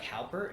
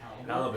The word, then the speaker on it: halibut: it was like halpert. Is that how you say it? Halibut. Halibut? Yeah, halibut. Halpert. Jim Halpert. Help it! Help it! But it was good. That's a Philippine accent.